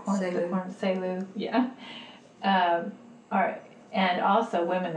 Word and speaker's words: Selu: So women, both as the subject of traditional stories, like Selu, am I pronouncing it right? Selu. Selu, yeah.